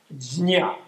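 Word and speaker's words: prajñā: In Sanskrit, which is a sort of primal Indo-European language, it's gnya. Jnya. It's a J. It's even hard to pronounce. Jnya.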